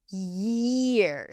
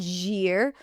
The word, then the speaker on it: year: It's not Don't make this sound zhear. Don't drop the yuh.